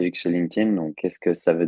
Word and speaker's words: LinkedIn: question on prononce nous on dit toujours qu'on prononce LinkedIn c'est c'est comme s'il y avait un T à la place du D LinkedIn VO donc l'idée c'est vraiment de de vous